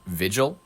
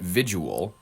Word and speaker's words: vigil: manner, and for that Did you just mispronounce vigil? He pronounced it visual.